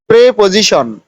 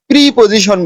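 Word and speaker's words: preposition: প্রেপজিশন, পদান্বয়ী অব্যয়। আমরা কিন্তু প্রিপজিশন বলি, আসলে কিন্তু এটা প্রিপজিশন না, ওটা প্রেপজিশন। নাম্বার 7.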